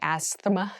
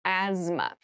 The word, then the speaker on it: asthma: has very interesting spelling there's a th in the middle but we don't say Asma we say asthma so kind of ignore